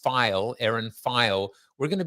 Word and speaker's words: Pheil: But on Wellness Wednesday and with Erin, and it is not pronounced Pheil or or Pheil. It is pronounced Pheil, Erin Pheil.